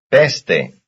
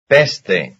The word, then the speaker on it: peste: Peste. Peste. Peste, peste, that's the first syllable.